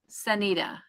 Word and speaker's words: Sunita: is what it jumped it is pronounced sunny or anita with an s sunita sanita sanita oh i'm